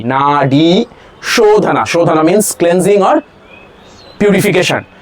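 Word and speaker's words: nadi shodhana: Na long a long e na shodhana shhana means cleansing or purification.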